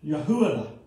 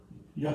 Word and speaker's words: Yehuda: In fact, the name Judah, if I'm saying it right, is Yehuda. Did I say it right? Yehuda.